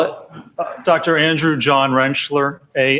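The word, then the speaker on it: Andrew John Rentschler: Could you please state your name for the record and spell it? Dr. Andrew John Wrenchler.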